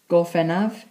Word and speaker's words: Gorffennaf: Right, June in Welsh is spelt, is said as Mehefin, spelt M-E-H-E-F-I-N. July in Welsh is Gorffennaf, spelt as G-O-R-F-F-E-N-N-A-F.